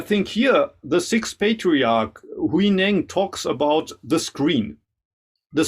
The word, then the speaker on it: Huineng: His name in Japanese is Enno. I think in Chinese you pronounce it Huineng.